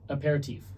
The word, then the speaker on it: aperitif: how do you pronounce that? Aperitif.